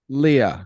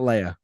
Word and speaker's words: Leia: Leah, not Leia. No, I think it is pronounced Leia, actually.